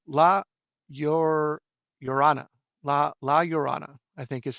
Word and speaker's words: La Llorona: Latin American ghosts and tales, but it's Llorona, La Llorona, I think is how you pronounce it.